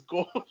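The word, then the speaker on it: Gould: I think it's pronounced Gold. Rams. Yeah. Whoa. Oh, no. Yeah, it's Gold.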